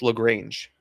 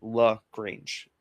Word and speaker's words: LaGrange: Carlos LaGrange, which is how you pronounce it. LaGrange. They put out like they're pronounced. It's that.